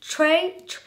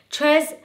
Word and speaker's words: tres: see the comments okay i know i'm saying it wrong trey tres tres leche i don't you know what i mean okay that's a better match but i still can